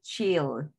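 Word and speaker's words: she'll: ¿Y cómo se pronuncia esto? Se pronuncia chill.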